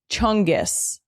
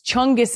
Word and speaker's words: chungus: Number three, chungus. This is something good. It sounds like it would be bad because it sounds like fungus but it's chungus is good.